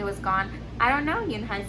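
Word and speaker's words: Unhei: turned to joey she nodded slowly yes it's pronounced yoon hai and it means grace mr canada yoon high said joe joey said slowly and this time perfectly it made yoon hai smile i'll have it ready for you tomorrow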